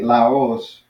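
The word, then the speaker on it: λαός: And another last one would be laos. Laos. So notice how I'm not saying Laos, I'm saying Laos. Laos. So that, accents in there.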